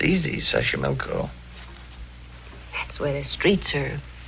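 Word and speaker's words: Xochimilco: be wonderful Mexico City Taxco pbla sash Sashi Sashi milco okay so you pronounce it better than I do it's easy Sashi milco that's where the streets are paved with flowers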